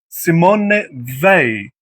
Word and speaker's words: Simone Weil: Ved in French pronunciation politician Simon Simon Simon Simone Ve Ve Simone Vi.